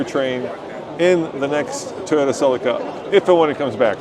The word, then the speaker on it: Celica: would be uh the as the British say Tommy the Cela the Cela yeah the Celica and they said it